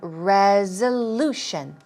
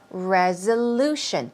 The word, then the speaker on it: resolution: it's a Z sound resolution here we go stress goes right there resolution it's a Z sound ZZZ resolution go down let's